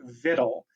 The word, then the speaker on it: victual: it is an archaic word that we purposely mispronounce so you may be familiar with the word vidle it's an old English and French word that